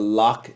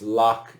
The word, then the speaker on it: loch: that lake ness it's loch ness because this word ends in ch it ends in ch but it's not pronounced like ch in church it's pronounced hard like a k the plural form is